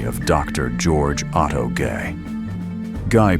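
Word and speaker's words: Gey: Guy pronounced.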